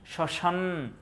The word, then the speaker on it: শ্মশান: তালেব্যস এর সাথে মমানে যত জায়গায় ম ফলা আসবে একটু নাসিক্য উচ্চারণ হবে মানে স্মরণ স্মরণ শ্মশান যখন উচ্চারণ করো শ্মশান